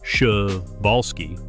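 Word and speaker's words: Przewalski: This is the incredible case of the Prisolski's horse. The Prisolski's horse, pronounced shubalsski, isn't just any horse.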